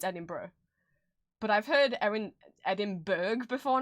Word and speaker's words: Edinburgh: I've heard people mispronounce it as Edinburgh, which at least makes sense. It's Edinburgh.